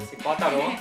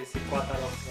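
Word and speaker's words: Zitácuaro: to Zitacuaro, or like as they call it, Zitacuaro. I couldn't get the pronunciation right the first day. I was like, the C goes first or the T? I don't know. And she would say Zitacuaro a lot.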